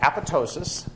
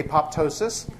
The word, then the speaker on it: apoptosis: say apop pneumonia so for the same reason the p is silent as it's silent in pneumonia um the the second